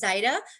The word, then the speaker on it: Zaida: I just wanted to make a little, that happens a lot with her, but that is the way she pronounces her name is Zaida.